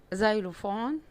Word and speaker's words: xylophone: tree، tree، umbrella، umbrella، xylophone، xylophone، yacht، yacht، zebra، zebra. لو لاحظتوا هنا الاكس في اول الكلام، الاكس في اول الكلام هنا بتتنطق ذا، ودي حاجة نادرة، لكن هي دايما بتتنطق اكس، اكس.